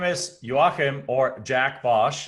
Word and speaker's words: Joachim: It's really pronounced Joachim, and then it's like on the East Coast, they know how to pronounce it. On the West Coast, they call it Joaquin.